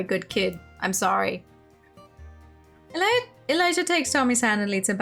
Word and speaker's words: Elijah: to me my name's Elijah by the way oh you do pronounce the J in Elijah I just wanted